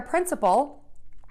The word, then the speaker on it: principle: We have 2 homophones, which are words that are pronounced exactly the same with different meanings. Our words today are principle, which is a rule